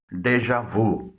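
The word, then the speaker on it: déjà vu: Sound بھی نکلتی ہے۔ پہلے یہ لفظ دیکھیں جس سے جے کی ساؤنڈ نکلتی ہے۔ ڈی ای جے اے وی یو، اس کو بولا جاتا ہے ڈیجا وو۔ یہ ایک فرانسیسی لفظ ہے جس کے معنی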